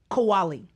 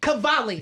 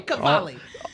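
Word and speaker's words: Qawwali: Riaz Kowali. Very close. Riaz Cavali. Kavali. Okay. I'm just pronouncing those those W's wrong. Okay. Kavali.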